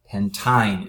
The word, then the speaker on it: pentyne: Pentyne is how you would pronounce this.